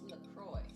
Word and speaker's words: LaCroix: Well, the soda is pronounced LaCroix.